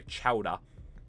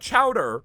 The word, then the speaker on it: Chowa: Carnival is not that funny of a name when ruin goes by Chowa. It's not Chowder, it's Chowa. It ends in an A. You have to pronounce it Chowa. It's important to the lore.